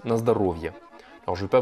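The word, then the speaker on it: на здоровье: Alors, ça s'écrit Nazdorovie, mais ça se prononce Nazdarovia.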